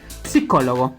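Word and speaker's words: psicologo: Nótese que la PS se pronuncia la P, a diferencia del español que solamente decimos psicólogo, ¿no? Entonces en italiano es psicólogo.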